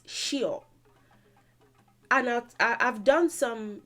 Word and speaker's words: ṣíọ̀: what it originally is it's just the pronunciation that they did not get so they would say sure sure but it's shio and i i've done